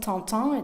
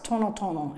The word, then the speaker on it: tan: reported by broka it wasn't tonon it's ton ton as you'll hear in